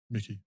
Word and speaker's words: Mikey: Mikey Moore. Mickey. Okay. Is it? Where's the C, bruv? Mickey. That's how they say it?